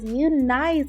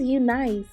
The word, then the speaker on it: Unice: i'll be reviewing this new nice y'all i've been saying it wrong is you nice hair this is like my